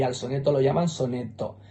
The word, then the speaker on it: sonetto: al soneto lo llaman sonetto. Ellos escriben tanto Scudetto como soneto con dos T's y pronuncian una T en cada sílaba.